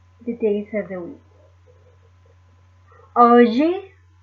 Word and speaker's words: hoje: Hoje é domingo. Hoje é domingo. The letter H is silent.